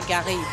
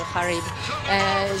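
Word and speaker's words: Gharib: Yeah, as I say, I think Garib, you know, I mean, I pronounce it the French way with him being from Morocco. So Garib as opposed to Harib.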